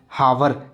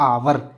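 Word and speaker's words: hour: बच्चे क्या करते हैं बच्चे they do pronounce H ओ य आर हावर चलिए कोई बात नहीं इसको बोलते आवर ठीक है आवर ओवर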